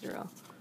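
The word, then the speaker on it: Derrel: Thomas Thomas he's like I'm not kidding about my name being pronounced derell oh it's his little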